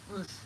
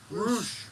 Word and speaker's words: Roche: Roosh. Roosh.